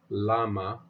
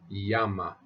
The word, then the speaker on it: llama: is pronounced yeah and the Double L is pronounced as a y so we would say not llama but Yama Yama Yama me yamo me